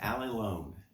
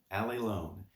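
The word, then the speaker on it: ἀλλήλων: the vocabulary words that stuck with me is pronounced Ali loan Ali loan and it means one another one another also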